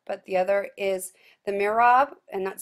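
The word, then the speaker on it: mihrab: already talked about but the other is the mirab and that's spelled m i h r a b and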